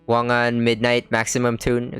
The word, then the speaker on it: Wangan Midnight Maximum Tune: like also just this month I started um wangan midnight maximum tune that's how you pronounce it um it's a racing game at